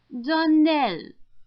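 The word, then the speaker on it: Donnell: would set it right darell Accent on the last syllable and St CLA on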